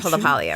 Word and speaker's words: LaPaglia: You pronounce Lealia, right?